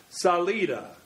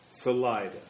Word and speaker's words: Salida: benefit of all concerned, we will say the word is pronounced Salida, and for the past 119 years, it's been locally mispronounced as Salida."